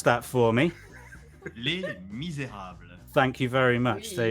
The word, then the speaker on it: Les Misérables: Would Arson like to pronounce that for me? Les Misérables.